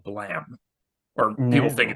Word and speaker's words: Blame: Or people think No, it's Blame. no, people think it's blame, but it's actually blam. Tsutomu Nihei spelled it Blame with an E, but it's supposed to be pronounced Blam like a gunshot.